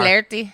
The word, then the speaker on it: Flaherty: So these scientists show up, Professor Flaherty and Professor something else. Professor Flotsam, Professor Jotsam. Flotsam and It's Jotsam, just we are. flirty. Flaherty? That's right. You don't pronounce anything in No.